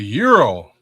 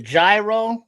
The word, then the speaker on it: gyro: Oh, you got the Oh, the the euro, the gyro, the groy, the euros. You know, depends on where you at how you say it. But you know the yeros, you know the classic Greek.